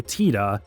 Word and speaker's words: Tidus: Add on to that, the official pronunciation is much closer to TEDA, which is meant to play off of Yuna's name, meaning moon.